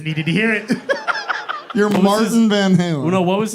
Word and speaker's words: Martín: if you do and you say my name is Martin we got a problem if you know already that not you see the little accent it's Martin I like but you